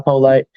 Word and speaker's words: Polite: but polite like the word, because I always have my manners. And Twitter is polite like the word, so polite.